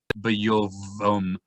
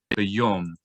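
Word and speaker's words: ביום: So when vav has a holam on top of it, then the vav does not make a v sound. It only sound with a vowel on top of it. Oh, so we would not say bayovom. We would say bayom. The v sound of the vav just totally goes away because the vowel o is on top.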